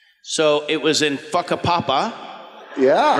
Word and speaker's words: Whakapapa: the well in uh Maori w h a is pronounced like f so it was in whakapapa yeah right that's it